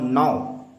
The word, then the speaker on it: know: तो ये जो शब्द है, इस शब्द का पहला वर्ण जो है वो आपको क्या दिखेगा, के, और जबकि हम उच्चारण करते हैं तो उसमें हम क्या बोलते हैं, नौ।